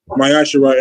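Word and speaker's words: מעשר: And it's pronounced Mayashara in the Hebrew. It's pronounced in the Hebrew Mayashara.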